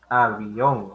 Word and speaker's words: avión: Y que la mayor fuerza de voz, si la encierras, termina en la última sílaba, ¿no?